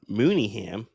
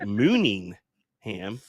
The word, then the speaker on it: Mooneyham: wrong hence Dai desera I actually got called out on Mooneyham as I used to say mooning ham and I sat next